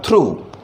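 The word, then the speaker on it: through: इस शब्द में जो उच्चारण है वो होगा ऊ। पूरा जो शब्द है इसे पढ़ा जाएगा थ्रू।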